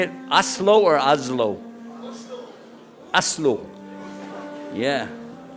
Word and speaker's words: Oslo: Oslo or Oslo?